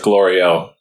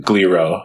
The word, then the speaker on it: Glorio: Yeah, nice job, Glorio. Yeah. But then at the 20th episode, he says Minister Gliro, so he still mispronounced it there.